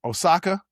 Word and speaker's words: Osaka: Osaka?